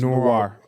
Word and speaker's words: Noir: It's Noir. Noir. It's French. I said it how it's pronounced.